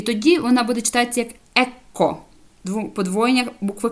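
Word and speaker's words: ecco: нижче опустіться і тоді вона буде читатися як Екко подвоєння букви к ЕКО в перекладі Ось бачите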